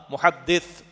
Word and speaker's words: محدث: کوئی محدث ہوتا ہے۔ ایک ہوتا محدث، دال کے نیچے زیر، حدیث کا علم رکھنے والا عالم، اسکالر آف حدیث، وہ ہے دال کے نیچے زیر، محدث جسے ہم کہتے ہیں، ویسے صحیح تلفظ ہوگا ثا، محدث، اور محدث دال پر زبر۔ تو حضور نے